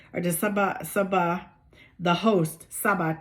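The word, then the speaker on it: Tsaba: In addition to the Chebed or the Sabah, the host, Sabah, T-S-A-B-A, the T is silent.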